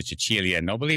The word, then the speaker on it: Cecilia Nobili: Chuchilia Nobby with me from Italy.